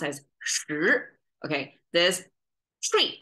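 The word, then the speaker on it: 十: This cross thing is Chinese number 10, pronounced as shi.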